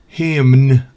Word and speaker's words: hymn: Por ejemplo, autumn, otoño, esa N no se pronuncia, no es autumn. Hymn, autumn, hymn.